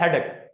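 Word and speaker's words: headache: हम कह देते हैं हेडेक इट्स हेडेक हेडेक stress यहां पे होगा सेम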